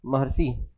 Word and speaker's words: महर्षि: महर्षि। ठीक, तो प्रोनाउंस हो रहा है महर, अर का प्रोनाउंस हो रहा है।